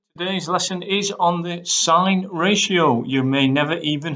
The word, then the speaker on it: sine: but this lesson is on the sign ratio you may never even have heard of